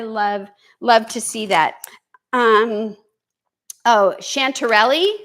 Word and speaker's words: chanterelle: Oh, chanterelle. Is that how you say it? Chantel. No, it's not. Chanterelle, sorry. Chanterelle.